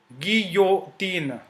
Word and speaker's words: guillotine: Then another example is jue, gi, guillotine.